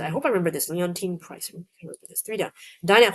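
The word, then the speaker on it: Leontyne: Oh, an American singer born Oh, how do you pronounce it? Oh, Leontine. Sorry, not Leonine.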